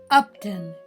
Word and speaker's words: Upton: Upton. Do you hear the short U sound at the beginning of his name, Upton?